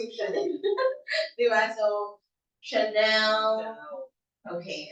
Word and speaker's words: Chanel: So there are instances wherein the spelling is CH, but the pronunciation is sh. For example, the brand Chanel. Chanel. You don't say Chanel.